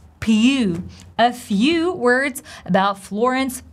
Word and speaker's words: Pugh: So this P-U-G-H is pronounced as pew, same as in the word few.